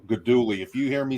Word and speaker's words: Guidugli: It's Guidugli, that G. Whenever you have a GLI in Italian, and it is common in their language, that G is not pronounced. So Guidugli.